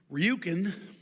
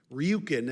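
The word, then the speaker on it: Rjukan: Ryukin is a town in Norway. Ryukin. And it's spelled RJ Ukan.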